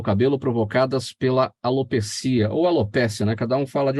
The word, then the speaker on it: alopecia: Alopécia ou alopecia. Na verdade, os dicionários brasileiros não falam a respeito da pronúncia. Como não tem acento no E, então acho que é mais correto alopecia, né?